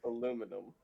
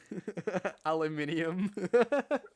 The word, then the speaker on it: aluminium: Pronounce aluminum. Aluminium.